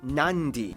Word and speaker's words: Nadi: Therefore, the town of Nadi is actually pronounced Nandi.